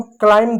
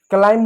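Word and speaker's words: climb: इसको हम क्लाइम पढ़ेंगे। क्लाइंब नहीं पढ़ेंगे। क्यों? क्योंकि जो बी रहा वो एमए के बाद आया। बी जो रहा जो बी रहा एम ए के बाद आए।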